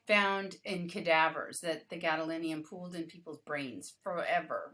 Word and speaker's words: gadolinium: can stop doing it now it's too much Gallant I'm saying it wrong gadolinium gadolinium is required for a breast MRI to make